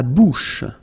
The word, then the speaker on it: bouche: La bouche. So remember, C-H combined together will give you this sh, sh sound.